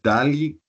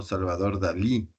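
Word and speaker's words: Dalí: respecto a la pronunciación No no es Dali sino Salvador dal y cosas de ese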